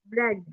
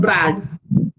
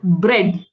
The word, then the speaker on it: bread: bread, Earlier you said Brad. Again, the E was silent. In this word also, A has no prominence. E is the hero. It's bread.